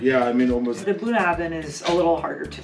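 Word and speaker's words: Bunnahabhain: So I have, I believe it's pronounced Bunahabin. Bunahabin.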